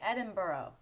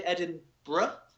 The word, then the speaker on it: Edinburgh: Some people say Edinburgh. Some people say Edinburgh. So it's 2 separate syllables at the end rather than just bruh.